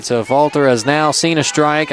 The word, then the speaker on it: Affolter: Dylan pronounced it Affolter. That's what we're going with.